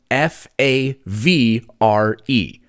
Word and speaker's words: Favre: It's spelled F A V R E.